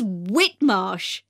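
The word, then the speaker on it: Whitmarsh: us outside the shop the shop's name is whitmosh now do you want to write that down i'll spell it for you that's w h i t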